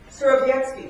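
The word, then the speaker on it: Surowiecki: this American author, James, I believe his name might be pronounced Sorbetsky. Who knows? Polish people here, yes? Sorbetsky, thank you.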